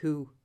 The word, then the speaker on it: Hu: So you would say Hu, like an owl, you know, the sound an owl makes.